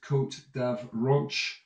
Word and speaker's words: Côte d'Avranches: So if you're going to do it frogly, it's Côte d'Avranche, and you know, you can Frenchify it up a little bit.